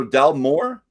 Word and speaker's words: Dalmore: So Dalmore. Dalmore. The mo. Yeah. Dalmore. Yeah. Well, the second word. Then when there's two words, you're pronouncing the second word more than the first.